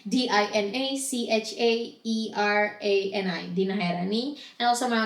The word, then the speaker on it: Dina Chaerani: It's Dina Chaerani, the C is silent, DinaChaerani, Dina Chaerani.